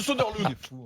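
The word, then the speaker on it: Söderling: Soderling, ça se prononce Soderlund.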